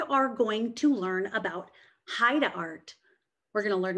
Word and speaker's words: Haida: Well, it's pronounced Haida.